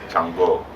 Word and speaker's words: Shango: Everybody wants to be Shango. Chang Macho. Shango Macho. Right. Exactly. Chango. And they say Chang Macho in Latin countries because in Latin countries they never pronounce sh. It's ch.